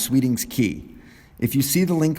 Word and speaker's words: Sweeting's Cay: to an island called Sweeting's Cay, or pronounced Sweeting's Key.